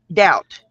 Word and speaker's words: doubt: Doubt. Doubt. There you go. The B silent climb.